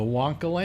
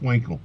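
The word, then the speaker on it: Wankel: it had won the wonl engine which was a engine w wonl I thought it was pronounced wankle wonl okay I owned one damn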